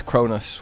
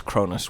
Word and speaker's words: Cronus: It is admittedly confusing, though, because one is Cronus with an O and one is Cronus with a U. Pretty much pronounced the same.